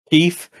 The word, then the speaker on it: Keith: pronounces it Keef. Keef? Like K-E-E-F? Yeah, Keef. Hi, my name's Keef.